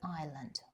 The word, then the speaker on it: island: Was it very windy on the island? Island, S is silent.